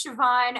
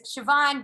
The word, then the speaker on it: Siobhan: don't my name is siobhan but it's pronounced it's an irish name it's very exciting so